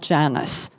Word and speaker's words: Janus: The Janus Quartet, at first I thought it would have to be Janus or Janus or something, Spanish pronunciation, but they call it Janus.